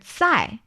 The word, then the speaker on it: 在: And here 在, the initial of the 在 pronunciation is actually 资. So 资 and 知 are different. Yes. Which is why it's 在. Instead of 在.